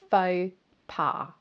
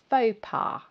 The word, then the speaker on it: faux pas: So it's pronounced faux pas, faux pas.